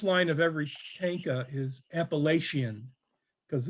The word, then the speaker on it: Appalachian: So I started writing a series of tankas, and the first line of every tanka is Appalachian, because it's got the right number of syllables. Appalachian, 5 syllables, right?